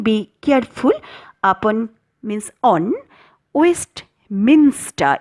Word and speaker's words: Westminster: careful upon means on waste minster it is not minister okay so be very careful of slip of the tongue Westminster breeze it is